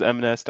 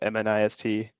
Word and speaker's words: MNIST: Yeah, some people pronounce it as MNest. I think that's the easier way to say it instead of MNIST.